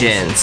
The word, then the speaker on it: reagents: Reagents. That's how you pronounce that one.